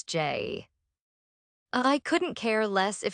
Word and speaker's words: Jai: Jai, he corrects, pronouncing his own name as Jay.